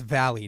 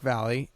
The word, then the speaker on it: Valle: And yes, that's how you say it. It's Valle, not Valle, not Valle. I don't know where you people get your pronunciations from. I don't know if you're French. I don't know what's up that my name is pronounced Valle, like Frankie Valli.